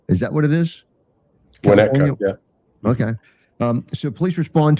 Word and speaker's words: Winnetka: The pronunciation of, is it Winnetka? Is that what it is? Winnetka, yeah.